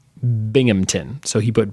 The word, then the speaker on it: Binghamton: your pronunciation was off locals don't pronounce the H it's all sort of slammed together like Binghamton Binghamton so he put B